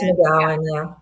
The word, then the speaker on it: McGowan: McG McGowan? Rose McGowan, yeah.